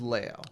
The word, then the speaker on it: Leo: And it is spelled Leo, but it is Leo.